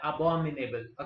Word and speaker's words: abominable: इसका प्रोनाउंसिएशन ज्यादातर ए नहीं अ करके पढ़ा जाता है, अबोमिनेबल. Okay, अबोमिनेबल this way.